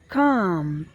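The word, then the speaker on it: calm: next शब्द आपका है सी ए एल एम जिसमें जिसमें एल क्या है जिसमें एल क्या है एल साइलेंट है काम हम इसको यहां पढ़ेंगे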